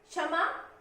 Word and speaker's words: क्षमा: क्षमा, क्षमा, छ नहीं होता, क्षमा, क्षमा, क्षमा। इसमें क और श का मिला जुला साउंड होता है, मिला जुला स्वर होता है।